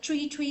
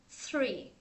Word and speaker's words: three: nè số ba hơi khó nè Mình hy đọc là tre tre tree Tre là ra cái cây đúng không